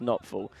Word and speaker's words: Knopfel: And one of the guys in the cell next to him was called, his name was Knopfel, it's pronounced Knopfel, and he was known as Awful Norful.